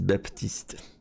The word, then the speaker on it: Baptiste: Baptiste, ils disent Baptiste.